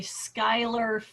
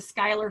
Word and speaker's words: Schuyler: huge park that the skyler family donated so it's spelled so not like how you would think okay that's why but it is s-c-h-u-y-l-e-r was how elizabeth skyler's